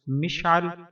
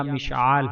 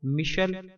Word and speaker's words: مشعل: جاتا ہے، مشال، لیکن عربی کے لحاظ سے مشال کا درست تلفظ مشعل یا مشعال ہے۔ معنی: اس نام کا